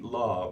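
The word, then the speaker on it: Lah: Law, Very is that good. right pronunciation?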